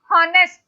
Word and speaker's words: honest: honest, ma'am, it sounds like honest. Oh, ma'am. नहीं, its pronunciation is yes. not honest. It's honest. Yeah, Honest. ma'am. Its pronunciation is honest. Honest. So it's O sound, vowel sound.